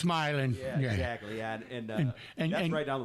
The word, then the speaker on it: Milan: That's where we, It- Milan and Milan. If you're, you know? yeah. No, it's Milan.